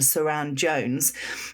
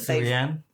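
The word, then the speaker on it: Sharon: This programme that we've been watching called Frauds, starring Jodie Whittaker and Saran Jones. We mentioned that Surianne? No, I always say Surianne and it's wrong. It's Saran Jones.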